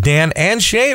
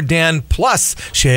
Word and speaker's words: Dan + Shay: Is it Dan and Shay or Dan plus Shay? I always see the little plus sign in there. What is the official pronunciation? The official word, man. No, it's and.